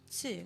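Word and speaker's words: つ: The second exception is tsu, which adds an S sound and is pronounced with less emphasis on the T. Tsu.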